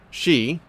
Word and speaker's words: Xi: from what I've seen she pronounced again X I pronounce she is threatening Hong Kong